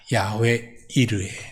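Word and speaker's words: יהוה יִרְאֶה: 이거는 히브리어를 발음 그대로 기록한 겁니다. 제가 발음이 히브리 사람들처럼 정확지는 않습니다만는 그래도 최대한 가깝게 얘기하면 이것은 야외 이르입니다. 야외 이르해.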